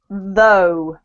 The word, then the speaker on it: though: so the first one it's not th it's though though that's better this one is one